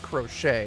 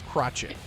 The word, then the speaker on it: crochet: It's not pronounced crochet. It's There it goes. pronounced crotchet.